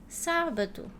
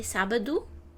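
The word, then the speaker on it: sábado: So I think the most interesting part in this word is do and o in the end of a word is pronounced oo.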